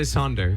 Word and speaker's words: Sonder: Is that how you pronounce Sonder? I say Sonder.